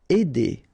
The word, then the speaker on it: aider: Aider, all right, combination of A and E together will produce the sound aider.